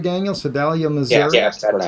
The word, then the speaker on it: Sedalia: Sedalia, Missouri? Yes, that's pronounced correctly.